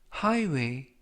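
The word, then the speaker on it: highway: 표현이 되겠습니다 이번 표현은 하이웨 하이웨 하이웨라고 발음하시면 되겠고요 이때 유의하실 점은 gh 이번 단어에서 무음이라 발음이 되지 않습니다 품사는 명사 뜻은 고속도로라는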